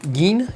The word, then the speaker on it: Jin: You can call him Jin, that's fine. But the Japanese pronunciation would be like Geen.